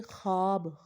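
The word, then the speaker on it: ख़्वाब: यानी कि यहाँ पर वाव लिखने में तो आ रहा है लेकिन वाव पढ़ने में नहीं आ रहा। मसलन ख्वाब, ख्वाहिश, ख्वाजा, खबीदा, खानगी, खानी, खार वगैरह, ये क्या है।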